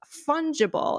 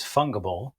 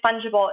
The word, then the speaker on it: fungible: how to pronounce like i thought it was like with a fun g so like a fun i thought it was fungable funky funkable and i thought i'm